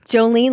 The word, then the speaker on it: Jolene: So, um this is your opportunity to say Jolene Jen um Jolene like the song like the Dolly Parton song and I'm highly skilled at motivating people to action.